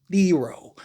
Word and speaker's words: Thero: A dude Thero, which apparently, according to Lakers, it's Thero. It's pronounced Theero. Thero, according to the Lakers.